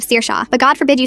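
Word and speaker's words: Saoirse: Sersa who becomes sorsy instead of sir shawa but go forbid you say Mrs.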